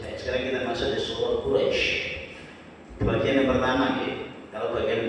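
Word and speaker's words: قريش: Kita pahami dulu secara bacaan Li'ilafil Quraisy. Ini pakai shin bukan pakai sin. Jadi kadang-kadang ngapunten pas baca hafalan, baik itu dipakai imami atau yang lain. Li'ilafil Quraisy salah, bukan pakai sin, tapi pakai shin.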